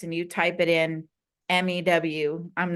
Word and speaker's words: mu: symbol or you just I usually just spell it mu pronounce Mew I would just spell it oh yeah Meo not not like a cat meowing Mew Mew it is pronounced Mew but I just I